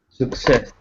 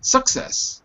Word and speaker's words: success: the chat window success success good so it's not success it's success second syllable success good next word